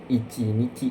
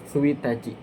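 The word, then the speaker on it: ついたち: Nah, tanggal 1 itu bukan ichi nici ya, bukan nici kan tanggal ya. Tanggal itu kan nici ichi nici bukan kayak gitu ya. Tapi suachi suachi ya.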